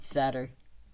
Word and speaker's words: Sadr: The game calls him Sad, but I think Sadr works because it's S-A-D-R.